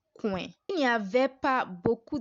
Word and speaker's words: coin: It is not a diphthong. So it is pronounced oin and not oua. So that's why we have coin.